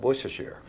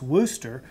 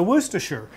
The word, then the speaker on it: Worcestershire: this word in fact i've always called this wooster but it was just out of ignorance yeah so i'm glad you finally helped us all to know how to say this sauce well right it's a